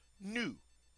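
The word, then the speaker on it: nous: we use the word new notice we don't pronounce the final s we often most of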